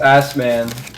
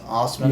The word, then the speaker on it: Assman: Assman. Ms. Osman. Yeah. what? That was her last name. She would always get mad. She's like, it's not pronounced ass man, it's Osman.